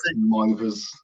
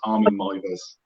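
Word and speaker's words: Meiwes: Mivers, because in Germany they pronounce W's as V's. So it's Armin Mivers.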